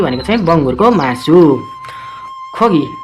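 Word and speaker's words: 고기: खोगी, यहाँ चाहिँ खोगी भन्नु पऱ्यो फेरि। खोगी भनेको चाहिँ मासु, यहाँ गोगी, यहाँ चाहिँ खोगी। यहाँ सुरुमा आएको छ त्यस कारणले ख उच्चारण गरियो, यहाँ बिचमा त्यस कारणले ग।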